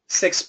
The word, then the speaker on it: sixth: is a weak sound the S can actually cancel the th so in this case sixth place he was in sixth place he was in sixth place very common zero th proper pronunciation keep the th but if there's cancellation it can go especially in the middle of a sentence he was in sixth